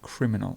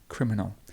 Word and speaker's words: criminal: and criminal criminal criminal the stress might be somewhere in the middle criminal and actually it's at the first part it's just here criminal then we've got critical